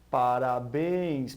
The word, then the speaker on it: parabéns: nós fizemos a cantada da palavra parabéns podemos perceber que ela é uma palavra oxítona e essa palavra da